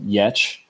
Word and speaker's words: Giertz: So I was assigned someone named Simone Yetch, but her last name is spelled Giertz.